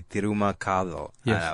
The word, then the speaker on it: T'ruma Kathal: of course what means it's spelled T apostrophe Ru m a space k a t h l which uh in Tamil would be Tuma we got to find